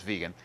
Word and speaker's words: vegan: fish only strict vegan which often I hear pronounced vague and I'm not sure where that came from and I'm pretty sure it's vegan but in any event